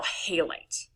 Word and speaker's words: halite: Or halite, but halite's how it's usually pronounced.